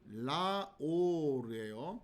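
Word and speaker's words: לָאוֹר: 왜 이렇게 발음을 하느냐? 자, 바로 원래는 라메드 정관사 오르 이런 형태였는데 자, 정관사를 생략시키고 그리고 이 라메드의 발음을 라로 발음을 하는 거죠. 자, 이렇게 해서 라오르 이렇게 발음을 하면 자, 정관사가 생략되어 있는 형태로 그렇게 보라는 거예요.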